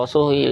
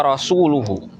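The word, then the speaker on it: رسولُه: Nah, yang salah itu baris bawah. Kalau di dalam Nas yang tertulis itu bacanya begini, wa rasuluhu. Tetapi dalam bacaan yang salah, jadi ada orang baca itu dengan bacaan kasroh, ini salah ya. Dan ini maknanya jadi fatal.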